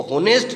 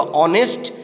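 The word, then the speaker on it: honest: और ने इस टेस्टी इसमें ऐड साइलेंट है इसको होनेस्ट नहीं बोलेंगे इसका प्रदर्शन होगा ऑनेस्ट और इसका अर्थ होता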